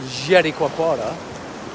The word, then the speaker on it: Jericoacoara: I'm on the north coast of Jericoacoara, or the north coast of Brazil, in a place called Jericoacoara. And when you say it, you have to say it like that.